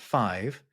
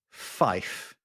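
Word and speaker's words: five: 5 is not pronounced 5, it's pronounced fife.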